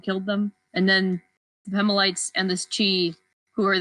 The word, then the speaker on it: Pemalites: i'm going to be switching between pronouncing it pima lights and pemelites and that stuff i pronounced actually first i pronounced it permalites but then i realized there wasn't an r yeah i just was saying permalites too and then when